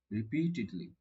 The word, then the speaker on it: repeatedly: She proved herself repeatedly, repeatedly. Let me check the pronunciation of it. Repeatedly. repeatedly, Repeatedly. Repeatedly. यहाँ पे long sound है. You need to stress.